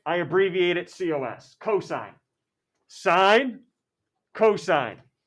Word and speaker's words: sine: we write it s-i-n it's not sin it's not said sine sine how do you find